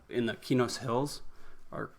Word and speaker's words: Qeynos: uh not in the kinos hills or i always call it quanos but keynotes i think is the proper pronunciation it's sony eq backwards and that was the